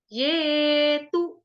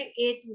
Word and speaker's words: ये तु: अभी आप में से किसी माता जी ने जब उच्चारण करवा रहे थे हम श्लोक का, तो उन्होंने ए तू बोला था।